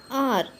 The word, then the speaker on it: hour: Sixth one, R. HOUR. H is a silent letter. So R gives the vowel sound.